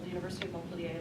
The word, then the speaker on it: Montpellier: I was at a university in France called the University of Montpellier, like Montpellier, Vermont.